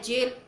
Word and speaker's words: gaol: Spelling है GAO, बोला जा रहा है जेल।